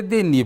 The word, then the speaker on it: Denis: Por que Denis? Porque o S final não se pronuncia no francês, então Denis.